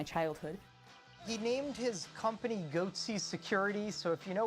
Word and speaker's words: Goatse: getting the goatee picture they're called goatsy security is that my pronouncing that correctly yeah that's right we're analyzing coverage from